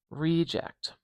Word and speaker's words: reject: Okay, reject, reject, re. So I'm changing the schwa to a pure vowel, a true long vowel, reject.